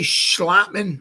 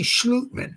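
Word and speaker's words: Schlottmann: You say Schlotman, I say Schlutman. Somebody said it was a Danish pronunciation, Schlutman. But John Michael Schmitz, Austin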